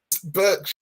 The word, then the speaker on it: Berkshire: Well, pretend the fucking E's an A. Just pretend the E's an A, and then you're fine. Berkshire.